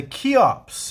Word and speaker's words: Kheops: but today I have a knife called the key ops and that is spelled KH e o PS this is a